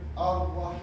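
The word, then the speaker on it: الرحمن: We don't say al. We say ar-Rahman.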